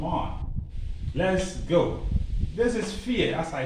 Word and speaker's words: vier: This is vier, as I said. V is pronounced F. So learn to know that.